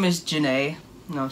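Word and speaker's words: Johnnea: But no, it's Janae. Janae. Simple as that. It's spelled weird, though, because Janae is spelled J-A-N-A-Y, but hers is spelled J-O-H-N-N-E-A. So, yeah.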